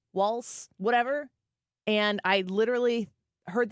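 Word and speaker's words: Walz: it's missing a t walls wals whatever and I literally heard them say it enough to I thought to myself okay it rhymes with one of our number one listeners balls on on uh Twitter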